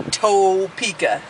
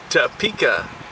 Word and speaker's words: Topeka: not even going there with you what's the pronunciation to okay not topa all right so we're going to TOA Kansas thank you all right and then we